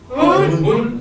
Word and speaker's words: hund: It's how do you pronounce a dog? Half-half? You all say hund. Hund.